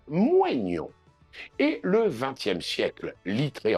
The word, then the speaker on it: moignon: on a le mot moignon, auquel on connaît trois prononciations. La tradition, restée majoritaire, tend vers moignon. Le 19e siècle recommandait quant à lui, par exemple, Becherel, la prononciation moignon.